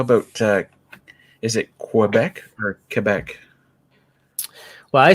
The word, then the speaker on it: Quebec: Yeah, the Quebec thing is interesting because you look at most QU words and it's quoi, but then you hear somebody from Quebec say Quebec and it's Quebec. Oh, because in French it's Quebec. Ah. But it's perfectly okay to call it Quebec in English. Absolutely. Yeah. What's not good is Quebec.